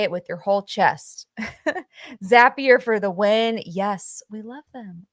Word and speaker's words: Zapier: It's Zapier. That's what we're going with. That's how you pronounce it. And it's going to take some time. But it's zappier pron pronounced like happier.